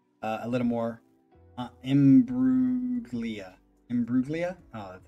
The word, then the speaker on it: Imbruglia: would make sense a little more uh embruglia Imbruglia oh that's how you say it in brutally